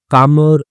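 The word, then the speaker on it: calmer: आई वाज़ कामर and kinder in my relationship. तो मैं क्या था? कामर था यानी कि एल साइलेंट होता है।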